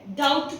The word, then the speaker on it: doubt: DOUBT, इसको भी हम डाउट नहीं पढ़ेंगे, डाउट पढ़ेंगे।